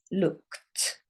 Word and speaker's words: looked: Now, the problem here is it ends in an ED, which shows you it's past tense, but it sounds like this. Looked. It sounds like a T.